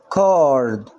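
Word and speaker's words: card: برضو هنا السي هتنطق زي الكي، تبقى الكلمة ايه؟ كارد.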